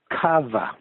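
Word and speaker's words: Chava: It's spelled C-H-A-V-A, and it's pronounced Kava.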